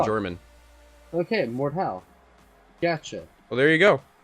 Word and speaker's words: Mordhau: or without the EE what it's German and roughly translations the murder stroke I found an audio file of a German pronouncing it here send it on this one is welcome back listen mordhaus replay Mort how Mort how let me know Walt Oh Mort ow that's how they pronounce it on the German website